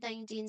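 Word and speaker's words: nineteen: The strong part here is till the end.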